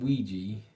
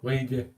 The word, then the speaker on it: Ouija: I've seen Ouija. That's how you say it in the north. That's how you say Ouija in the north. No, Ouija.